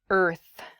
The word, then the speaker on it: earth: to practice your pronunciation it is the word earth earth that r and the th sound can be difficult to pronounce together er f earth so this is a